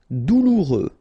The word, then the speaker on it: douloureux: Douloureux, remember, final X not pronounced, so you get this O-U together, ou, douloureux, douloureux.